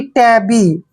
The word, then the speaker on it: tabby: TA को हम टे पढ़ेंगे, ठीक है, और डबल बी को बै लिखेंगे और वाई को ई की मात्रा पढ़ेंगे, यानी कि टैबी।